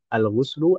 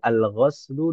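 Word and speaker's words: الغسل: Alghuslu bisa dibaca dengan tiga cara. Alghuslu, alghaslu dan alghislu. Ya kan Ibu ya. Dan secara detail maknanya maka berbeda kalau cara membacanya berbeda.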